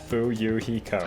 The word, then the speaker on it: Fuyuhiko: My first name is pronounced Fuyuhiko. Not baby gangsta. Fuyuhiko.